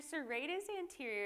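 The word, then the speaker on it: serratus anterior: I never say it right so it's your serrus anterior it's going to be be part of your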